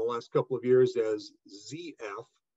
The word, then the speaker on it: ZF: Here in the United States, ZF has rebranded in the last couple of years as ZF, because here in the United States, we pronounce the 26th letter of the alphabet as Z, not Z.